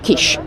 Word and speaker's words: Kiss: So, it's spelled kiss like a kiss, but I believe locally you pronounce Kish.